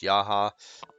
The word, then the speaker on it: Jaha: So next we've got Jaha or Jaha. I don't think anybody knows how to pronounce his name properly. I've even heard it pronounced Yaha. Um, I think it depends on where you come from, and I think that it really doesn't matter. My friend and I, we called him Jaha when we were playing,